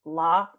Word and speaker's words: La: sound very stupid but is your last name pronounced law yes great that doesn't sound